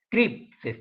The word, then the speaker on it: creep: Ese fenómeno se llama CREEP, así, C-R-E-E-P, CREEP, se pronuncia CREEP.